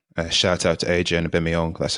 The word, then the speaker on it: Aubameyang: uh pierre-emerick aubameyang uh shout out to adriana bimiong that's how you pronounce his last name yeah we actually watched